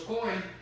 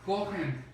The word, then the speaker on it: Cohen: Porque en esta porción de lectura se dice acerca de los sacerdotes, de los Cohen, ¿verdad?, de los Cohen, aún si no pronuncias la H, los Cohen, era muy importante que